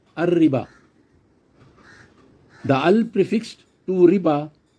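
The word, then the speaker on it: الربا: been referred to as ar-riba. In this term, riba is prefixed with the Arabic definite article al, which is equivalent to the English the. But the term is pronounced as ar-riba.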